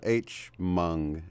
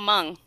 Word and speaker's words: Hmong: What did I mess up in your description, the H-Mung, Hey-Mung, how do you pronounce that? Oh, it's just called Hmong.